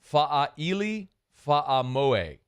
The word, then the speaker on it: Fa'aili Fa'amoe: I'll try again here since Muse spelled it phonetically for me. Fa'aili Fa'amoe is the kid from Washington State.